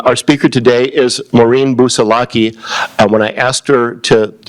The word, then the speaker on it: Busalacchi: speaker today is Moren bus salaki when I asked her to pronounce her name she said it's like keep your booze under lock and key Baki so there you